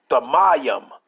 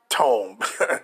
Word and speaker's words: Thummim: And it says, let's see how they say it, and they ain't gonna say the way we said it. Strong's H8550. Tome. That don't say no tome. That says Thamayim, right?